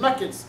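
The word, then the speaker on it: knuckles: اسمها النكلز كي سايلنت في الاول نكلز.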